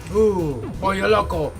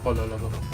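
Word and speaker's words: Pollo Loco: Poly loco. Yes. Got my polo loco. I said it wrong. Polo loco.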